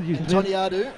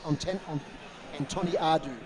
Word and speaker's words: Antoniadou: I heard her name very well pronounced by the commentators on the live stream last week. I also rang Paul Flynn, who I had a chat to during the week, just to get that pronunciation right, but it is Antoniadou.